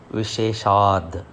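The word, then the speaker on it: विशेषात्: Visheshat. Visheshat. Visheshat. The last word is Visheshat, whereas when it is continuing with the next line, it pronounces as Visheshad. Light da. Visheshad.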